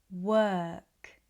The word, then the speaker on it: work: word term first turn work verb girl burn world were thirst fur work Once this feels more familiar, you can practice more words that are spelt with O, but are pronounced with er.